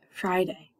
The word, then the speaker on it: Friday: a y Friday remember this I in the middle is a long I so it says its name I Friday that's not free that is the short I sound it's not for a day it's Friday